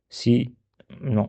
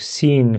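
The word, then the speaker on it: سين: C'est le sens au début, c'est comme le S en français. Donc c'est facile. Donc sin fatha c'est sa sin fatha ça c'est pas sa non c'est ça.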